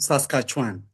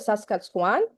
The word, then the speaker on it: Saskatchewan: Can you please help me with the pronunciation of that name? University of Saskatchewan. Okay, University of Saskatchewan.